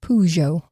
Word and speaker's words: Peugeot: I looked up how to pronounce it and it said Peugeot Okay.